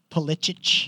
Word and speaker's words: Pulisic: Pulisic. Pulisic. That's his Polish name. That's how you say it.